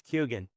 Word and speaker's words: Kyogan: Um it seems that that's what this Kyogan or Kiogen how is how is it pronounced properly? It's Kyogan.